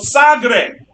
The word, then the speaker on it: Sagres: coast of portugal called sagre sagre is not spelled what like the helicopter going overhead sagree is spelled s-a-g-r-e-s it looks like segres but it's not sacristy because it's portuguese and he establishes a